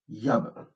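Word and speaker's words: ꞽꜥb: Donc là, le mot yab, qui signifie réunir, s'écrit avec un i, et comme il est suivi d'un a, donc le haïn, il va se lire yab.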